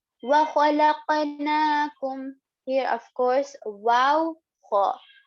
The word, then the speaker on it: وَخَلَقْنَا: And now the next one here on noon, there is standing fatha, as in we are going to extend it for about 2 counts, as in 2 haraka. Also, standing fatha is equivalent to alif madda. So just how we pronounce the alif madda, we are going to also pronounce the standing fatha exactly the same.